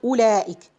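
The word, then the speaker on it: أولئك: For example, ulaik. Now the circle 0 is not on the alif, it is on the waw. So I'm not going to pronounce this letter. So the circle 0 means we are not pronouncing this letter at all. Ulaik, no, we're not saying ulaik, we're saying ulaik.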